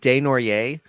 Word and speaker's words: Desnoyers: I'm going to keep getting the name wrong. I know it's Desnoyers.